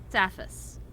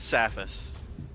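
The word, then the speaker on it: Safus: Saphus. Just gonna guess how to spell that unless you tell me. S-A-F-U-S. S-A-F-U-S. Okay, I guessed wrong. Sassafras. Alright, so I heard Saphus Saphus.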